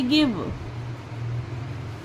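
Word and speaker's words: give: वी ई के लिए व लिखा। यहां पर ई साइलेंट है तो इसलिए हम ई का यहां पर उच्चारण नहीं देंगे। बी के लिए व लिखा तो इसे पढ़ेंगे गिव।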